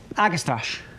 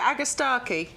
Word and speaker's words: Agastache: Agastache. I mean, that sounds all right, actually. I pronounce it Agastache. Agastache? Yeah. Where's the Stark? Where's the K in that? Where's the Starkey? I think it's Agastache.